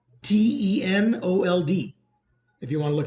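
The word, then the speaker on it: Tenold: now about this guy his name is Brandon 10 old 10 old Brandon is his name uh Brandon titled it's spelled t-e-n-o-l-d if you want to look him up Brandon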